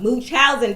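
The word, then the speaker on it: Munchausen: this live until I give you the correct pronunciation of it. Okay. Muchinchousing disease. That's what I was looking for. So, moochowin disease.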